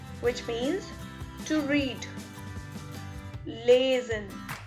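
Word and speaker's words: lesen: let's begin so our first verb is lazin which means to read lazin which means to read l-e-s-e-n lasen then we have fanzine fanzine f-e-r-n-s-a-h-e-n transient then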